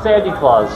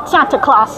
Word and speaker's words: Santa Claus: I've dressed up like Sandy Claus. Sandy Claus. So it's Santa Claus.